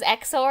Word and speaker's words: XOR: remember when I was when it was exor I was like zor zor and you're like stop saying zor it's exor it's exor yeah just read the